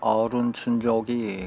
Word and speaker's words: 오룬춘족: 뭔가 아련하면서도 판타지스럽고 그렇네요 악년 춘족은 한자를 우리 식으로 읽은 것이고 현지 발음에는 어른 춘적이 가까운 듯합니다 이동용 텐트에서 짐작하셨겠는데이 산악을